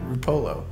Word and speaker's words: Rupolo: Ruppolo, welcome to the See-Through Podcast. What's up, dude? Long time coming, bro. One of those pronunciations, I got it. I got it down. Yeah, you got it. Ruppolo, you got it.